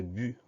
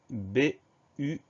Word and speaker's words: but: Alors, on peut le prononcer but ou but. Ce mot-là, c'est pas très compliqué. Ça s'écrit B-U-T. Si on le prononce but, on considère le T comme une lettre muette.